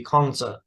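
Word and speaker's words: Kongzi: pronunciations quite right but a closer statement of the original name would be Konza which is uh Master Kong and Monza Master Meng is a better pronunciation of uh personals known as mencius so mencius is a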